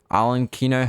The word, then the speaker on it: Arlecchino: Arlecchino herself. No, arlecchino. There we go. I'm pronouncing it right.